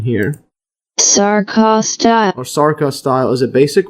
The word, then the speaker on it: sarcostyle: So a myofibril, also known as a muscle fibril, or sarcostyle, let's just see the pronunciation here. Sarcostyle.